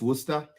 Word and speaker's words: Worcester: spell it for me w-o-r-c-e-s-t-e-r uh c-e-s-t-e-r is uh is it Shire that's a sauce ah so is it just Worcester yeah it's just Worcester okay okay so yeah